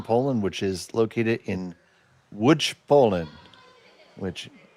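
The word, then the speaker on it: Łódź: which is located in Wood Poland which if you look at the spelling it says L O DZ it is pronounced wood.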